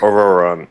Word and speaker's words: Ororon: Ororon. Okay, that's how you pronounce it.